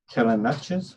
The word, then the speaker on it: Telemachus: It's spelled Ithaca, to watch over the upbringing of Telemachus, is Telemachus.